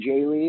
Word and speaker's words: Jehle: reach out to me on Twitter it's Jay Lee my full name so how do you spell